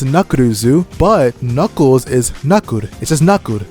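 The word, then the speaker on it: ナックルズ: It's pronounced nakuruzu.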